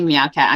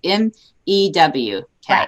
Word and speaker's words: MEW cat: And I always want to say meow cat. I'm sorry. So I apologize. It is a lot of people cat, and so it's MEW cat.